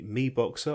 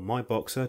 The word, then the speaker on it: MiBoxer: review today I have the me boxer or my boxer depending on how you wish to pronounce it see for smart